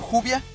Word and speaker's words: Juvia: la y del español el nombre quedaría como juvia pronunciándose el grupo de oración 6 realmente no es